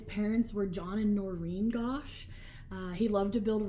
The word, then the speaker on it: Gosch: Um Johnny go Gosh. Go. I've heard it pronounced both ways. I'm going to go with Gosh.